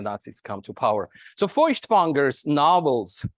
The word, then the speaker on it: Feuchtwanger: So I begin with Leon Feuchtwanger, or as he was known, Leon Feuchtwanger in the Russian kind of pronunciation.